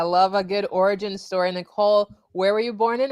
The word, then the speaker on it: Niceole: and uh for everybody it is pronounced nicole even though it's spelt weird uh last name is